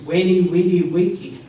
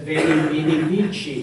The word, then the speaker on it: veni, vidi, vici: in the Near East, Weni, Weedy, Wiki. I came, I saw, I conquered. If he had lived 400 or 500 years later, he would have said Veni, Vidi, Vici, the Italianates pronunciation of Latin.